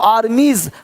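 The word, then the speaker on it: armies: आर्मीज देख रहे हो आर्मीज हल्का सा ज का साउंड हो रहा है देख पा रहे हैं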